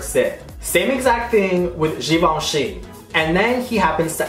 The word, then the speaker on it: Givenchy: love fashion you know that's not how you pronounce jenci okay that let's be real you don't pronounce it like that don't you ever pronounce it like that it is xoni xoni please it's literally on Google okay it's here